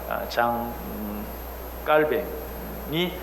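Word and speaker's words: Jean Calvin: 존 칼빈, 영어로 얘기하면 존 칼빈, 스위스어로 얘기하면 장 깔백. 우리는 이제 워낙 칼빈에 익숙해 있으니까 장 깔뱅이 그의 이름이 올바른 발음입니다.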